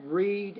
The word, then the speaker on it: read: present tense say read when it's past tense say read right so in this case because the first verb is worked then we have to look at read as read so I would correct